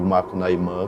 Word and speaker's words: Macunaíma: 3 nomenclaturas distintas, que é o Macunaíma, a obra propriamente dita, o Macunaíma, que é o mais geral aportuguesado, e o Macunaímã, como se fala na língua macuxi.